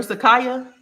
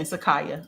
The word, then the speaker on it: Sakaya: about that my love am I saying your name right Sakiya or Sakaya I like it either way. I might be saying it wrong though. Let me the second Sakaya.